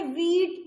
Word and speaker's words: wheat: तो ये H जो है वो हम साइलेंट है और हम इसे वीट बोलते हैं, WEAT, वीट।